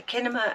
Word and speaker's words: Kinema: the uh genema yeah there's a kinema in the woods obviously it's a cinema but it's called kinema it's spelled with a K and that used to